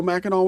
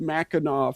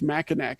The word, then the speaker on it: Mackinac: And so I was reading something to a guest, and I just read Mackinac phonetically as Mackinac, and I kept saying, even though I knew that wasn't it, but I can't do two things at once.